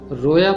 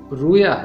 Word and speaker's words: رویا: میرا مضبوط کلا ہے۔ تیسرا لفظ رویا ہے، اسے اکثر رویا پڑھا جاتا ہے۔ درست تلفظ رویا ہے۔ خداوند کا کلام رویا